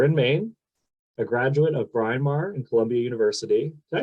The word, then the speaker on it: Bryn Mawr: Outlet based here in Maine a graduate of Brian Mar in Columbia University did I say that right Brian Mar I always confused on how to pronounce that college name Bryn Mawr Bryn Mawr okay graduate of Bryn Mawr and Columbia University